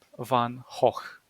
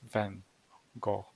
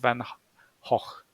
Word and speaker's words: van Gogh: name very wrong because he was Dutch and his name is pronounced correctly Vincent Van hoch not Van Gogh or something like that it's Vincent Van hog van hoek and once you're gonna